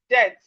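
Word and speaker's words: debt: Then we have death, death. The B in death is silent.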